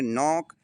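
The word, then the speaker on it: knock: दूसरी मीनिंग है नोक। इसमें भी एन के पहले के है। तो इसे हम नोक पढ़ेंगे। कनोक नहीं पढ़ेंगे।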